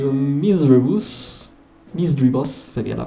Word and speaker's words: Misdreavus: Misdreavus sería la pronunciación correcta.